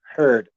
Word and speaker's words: Heard: and um different name i am big heard h-e-a-r-d even if the name is spelled heard h-e-a-r-d or heard h-e- like some